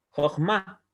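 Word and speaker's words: חכמה: Esta palabra se pronuncia como Jochma, Jochma, ¿ya?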